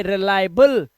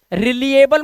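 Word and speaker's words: reliable: ये वर्ड देखो वहां पे रिलायबल, ठीक है, रिलिएबल मत पढ़ लेना, वहां लिखा हुआ है मैंने सारा प्रोनाउंसिएशन।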